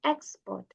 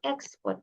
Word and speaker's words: export: So you see the difference, export and export. So when you're pronouncing the words, there should be this difference in your pronunciation because you've reached a